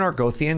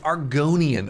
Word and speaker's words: Argonian: Is this not an Argoian? Did I get the name wrong? How can I help you? Is this train? Good that you want to get better. Oh, yo, Argonian.